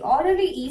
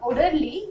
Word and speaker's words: orderly: Orderly is an adjective. For adjective too, you have to stress on the first part. Orderly. What? It's not orderly. It's not orderly.